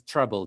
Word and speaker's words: Treblle: guest today is vedran tindrich the co-founder of treble this is pronounced as treble t-r-e-b-l-e this is an api management platform and they